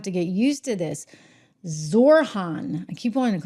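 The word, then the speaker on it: Zohran: Oh gosh, we're spelling his name wrong. You know, I'm gonna have to get used to this. Zorhan. I keep wanting to call him Zopron for some reason.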